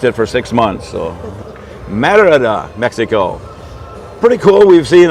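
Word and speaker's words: Mérida: we are getting back to action here from Meridia Mexico Merida I've only mispronounced it for six months so marada Mexico pretty cool we've seen a lot of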